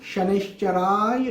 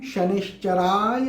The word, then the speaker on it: शनैश्चराय: सही बीज मंत्र है ओम शं शनिश्चराय नमः। ओम शं शनिश्चराय नमः।